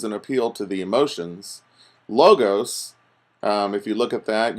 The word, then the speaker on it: logos: ethos pathos and logos sometimes you hear them pronounced pathos or Lagos or something but I tend to pronounce them all with a long vowel sound at the end ethos pathos and logos and the torkoal appeals